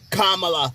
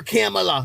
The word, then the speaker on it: Kamala: he say oh I'm just gonna cackle like Kamala or camela because you know they can never pronounce her name and I think they can